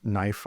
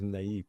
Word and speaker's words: naive: But the thing that I'm concerned about is this knife art. Knife art, as in like an artist would like kill it, or they make it with knives. Sorry, my pronunciation is naive. Naive art.